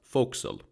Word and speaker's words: forecastle: The forecastle, pronounced forecastle, was either the raised deck at the bow of the vessel, or just the area below.